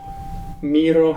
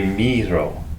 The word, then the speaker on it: Miró: So it should be Miro. No, there's an accent on the. Oh. No, but she was yelling something. She was like, it's Miro.